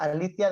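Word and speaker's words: ἀλήθεια: aletheia en el griego, ya se escribe aletheia, pero se pronuncia Alicia, de ahí viene el nombre Alicia.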